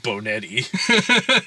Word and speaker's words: Bonetti: You know, it's a Benetti, so they call him Boner. Like, it's like they mispronounce it completely and call him Boner all the time. Instead of Bonetti.